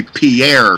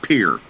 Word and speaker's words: Pierre: it's tier it's a most people would say Pierre South Dakota but in South Dakota it's pronounced Pierre either sub geniuses in the state of Dakota and DC of I knew something that dr.